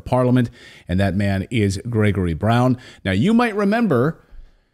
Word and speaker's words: Grzegorz: I should point out I'm using the the Western pronunciation of of your first name so to my polish viewers I apologize but I triy I tried for like 10 minutes for your polish viewers my name is Gregor Brown I I said